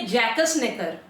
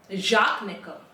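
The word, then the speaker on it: Jacques Necker: अब ये एक नाम है, इसको जैसे हम पढ़ेंगे तो हम तो बोलेंगे जैकस नेकर, मगर गूगल भाई साहब बोल रहे हैं कि इनको प्रोनाउंस करते हैं जाक नेकर।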